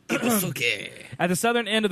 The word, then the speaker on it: Ibusuki: and a boat ski in Ibusuki, is how that would be pronounced. Ibusuki.